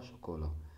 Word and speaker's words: chocolat: Papa, chocolat, parce que le T ici c'est muette, c'est une lettre muette.